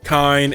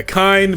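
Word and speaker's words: Kain: So we have those characters in addition to Billy Kane, Kine, and or I don't know how to pronounce it. You said it right. Is that right? Yeah, Kine, Billy Kane, and Rock.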